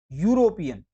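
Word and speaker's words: European: यूरोपियन किससे शुरू हो रहा है, यू, यूरोपियन, तो यू एक व्यंजन है, तो व्यंजन के आगे ए लगता है, तो यहाँ पे आएगा कि France is ए यूरोपियन country.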